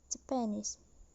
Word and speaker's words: Japanese: stress is on ref the next example is japanese in a word japan the stress is on the second syllable then plus suffix is the word become japanese the primary stress is on knees while the secondary stress is on tip the first level so the select the